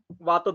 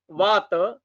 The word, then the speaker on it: vata: Vata, not as a vata. Pitta, not as a pitta. And kapha, not as a kapha. We have to pronounce it as our Sanskrit pattern, not the according to European style.